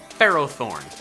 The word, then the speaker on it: Ferrothorn: pronouncing it Ferrothorn because its name is intended to be a combination of Ferrum or ferrous and thorn not ferocity and thorn so I'm calling it Pharaoh thorns as should you if